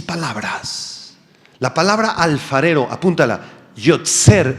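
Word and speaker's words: יוֹצֵר: la palabra alfarero apúntala yser en hebreo y gria o t s e r con acento en la e yser proviene de una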